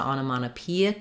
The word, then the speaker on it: onomatopoeic: So first syllable stress, ana. Sorry, not ano, but ana. The second O is unstressed. Ana. Mata peic, onomatopoeic. Secondary stress here on this first syllable and main stress on P. So rewriting that for you. Onomatopoeic with the stress on that second to last syllable, onomatopoeic.